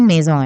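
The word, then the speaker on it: maison: ठीक है, इसकी प्रोनाउंसिएशन मेजॉन है।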